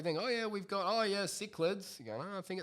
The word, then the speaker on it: cichlids: Chichilids? Cichlids.